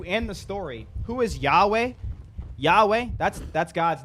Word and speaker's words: Yahweh: the Hebrew but yarth how do you say it whatever Yahweh we say Yahweh it's the English the English the English uh literation of it yo W's